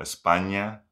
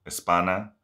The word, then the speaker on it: España: palabra el sonido ny, por ejemplo, España no se dice Espana o la palabra niño no se dice nino y niño es um